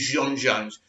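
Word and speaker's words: J'onn J'onzz: think john jones but his real name is jean jones you pronounce it that way so there's loads of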